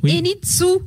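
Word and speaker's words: Henintsoa: Oui, ça ne se prononce pas o a mais enitsou.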